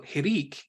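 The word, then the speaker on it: hiriq: little tweak to them so hirik is pronounced e as in b hirik Malay or hirigyod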